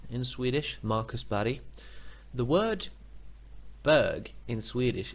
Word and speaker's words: Berg: formations by the way that looks like burg B ERG but it's actually pronounced buddy in Swedish Markus body the word burg in Swedish is actually the